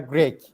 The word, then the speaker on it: Grech: I said Grech. I think it's gonna be Grech, isn't it?